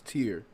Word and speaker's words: Tyr: actual artist name is tier tyr that's how you spell it but it's pronounced tier yeah okay and I